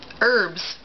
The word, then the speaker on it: herbs: it coffee direction naturally herbs I think that I mean I don't anybody pronounces the H unless they're talking about a guy named herb um I think that